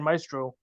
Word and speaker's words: Maestro: of people don't realize Maestro is spelled a e m a e s s t r o so it's not within a long eye it's m a e it's an Italian word actually um a good